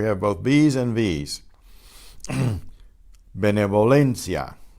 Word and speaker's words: benevolencia: The first letter, the B, is pronounced the way we normally do with the puff of air. But the V is between two vowels, so it's benevolencia. So it's benevolencia, to exaggerate it a bit.